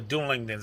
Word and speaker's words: Dunlendings: The Dunlendings, I believe that's how you pronounce it. Again, it's another J.R. Tolkien word, and it's sometimes hard to pronounce.